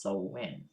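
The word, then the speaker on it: Samhain: New Year in a festive called so we pronounced so win people also believe they commune with the dead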